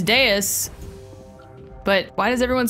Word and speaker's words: Deus: Deus like deity.